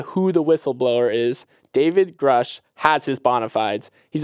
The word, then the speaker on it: Grush: UFO task force, David Grush. I did not pronounce that. Grush.